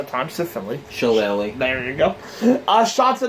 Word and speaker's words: Shillelagh: And here's one from under the cage to set in the Irish club that I always have a hard time pronouncing sometimes to Philly. Shillelagh.